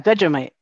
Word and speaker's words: Vegemite: Yeah, Vegemite.